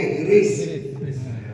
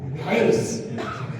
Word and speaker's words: حرص: چلیے اب سب سنا دیتے ہیں۔ لالچ کو عربی میں کہتے ہیں حرص، ہم لوگوں کے دیہاتوں میں بولتے ہیں، گاؤں میں ہرس، لکھنؤ وغیرہ میں بولتے ہیں ہرس، لیکن صحیح تلفظ کیا ہے؟ حرص۔ حرص مانے لالچ، اچھی